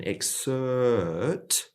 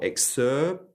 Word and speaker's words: excerpt: should be going for, excerpt. And so the lips coming together there actually change the sound in a slight way. It's almost like there's a gap between the and the T.